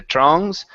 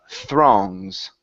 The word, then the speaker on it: throngs: So, give me good th's instead of the throngs. The throngs.